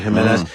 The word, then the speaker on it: Jimenez: say Jimenez Jimenez yeah I think they pronounce that as an H right Jimenez uh pitches the first